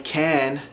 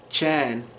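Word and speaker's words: كان: So instead of saying can, as in he was, can would be chan.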